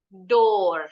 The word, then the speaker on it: door: Tapi ada juga O-nya 2 bunyinya O. In the word floor, door.